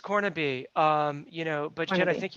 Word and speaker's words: Cornibe: Oh yeah, it's pronounced Cornibe.